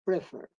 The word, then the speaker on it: prefer: ¿Cómo se pronuncia? Prefer o prefer. Prefer. La pronunciación es también en la última sílaba.